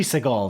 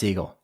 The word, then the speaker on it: Segel: It seems like it should be Seagal, though. Yeah. But I'm pretty sure it's Segel.